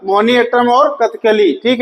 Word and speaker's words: कथकली: कौन सा राज्य है कथकली और कथकली मत कहे इसे कथकली कहने में दो बार का बन गया बेटा होता क्या है कथकली जैसे अभी मैं प्रोनाउंस कर रहा हूं आप इसको जाने